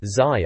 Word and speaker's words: ZY: Finally, there's a bit called U, which is a quote from someone, maybe the reviewer ZY, pronounced Zai, I suppose.